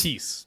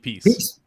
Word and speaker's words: Peace: JP Pence, is that the proper pronunciation? He's Peace. JP Peace. Peace.